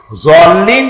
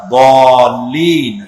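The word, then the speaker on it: الضَّالِّين: সেই জন্য জল্লিন যদি কেউ পড়ে তাহলে নামাজ অশুদ্ধ হয়ে যাবে। এটা দল্লিন, গায়রিল মাগদুবি আলাইহিম ওয়ালা দল্লিন, দালও না আর জও না, উচ্চারণ হবে এর মাঝখান দিয়া, দল্লিন।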